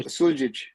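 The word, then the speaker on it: Suljić: Suljic.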